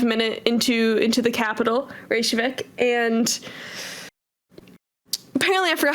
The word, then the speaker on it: Reykjavik: I never knew how to say it's a Reykjavik God yeah it is it's just a bunch